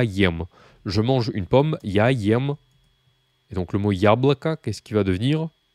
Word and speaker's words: яблоко: Et donc le mot яблоко, qu'est-ce qu'il va devenir? Donc il se termine par un O. Hein. Ça se prononce A, mais, enfin ça se prononce presque comme un A, mais c'est un O.